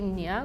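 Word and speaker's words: nee: say y so our when we say no in Africans it would be nia which is ne e e nia yeah that's how we spell it too but you say it very differently I kept thinking you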